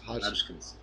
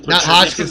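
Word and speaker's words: Hoskinson: gavin woods polkadot charles i always pronounce the name hot spot hotkins huskins not hodgkin's disease you know i've got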